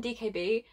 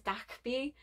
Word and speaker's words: DKB: thankful that kb so i keep calling dkb that's my british brain it's dak b and i can't when